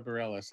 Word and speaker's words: Bareilles: Sarah's the musician you mentioned is Barela Sarah Bareilles that's how she pronounces it Thank You thing yeah that thing